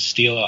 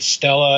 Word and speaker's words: Stela: t l a i didn't know how to pronounce it I didn't realize it was so it was Stila I kept calling it Stella and of course then you want to scream